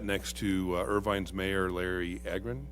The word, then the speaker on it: Agran: I sat next to Irvine's mayor, Larry Agran. Is that how you say his name? Aren. Aren. Thank you.